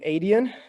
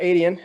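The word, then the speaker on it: Adyen: be a lot like i think you pronounce the name adian is that does that sound about right um european yeah financier right the payment processor yep so you got adian and then over there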